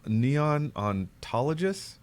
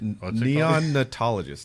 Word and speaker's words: neonatologist: guys know what a neon neon ontologists does or is something someone tells me you're not pronouncing this right neonatologist neonatologist now here's where I truly